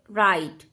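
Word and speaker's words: right: आई र आई ट राइट ये जी और यह एच साइलेंट हो जाएंगे इनका साउंड नहीं आएगा र आइट राइट ल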